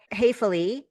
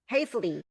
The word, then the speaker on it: Hafele: Hayflie. So yeah, it's it's it's unfortunate. Hayflie is pronounced wrong in both German and English.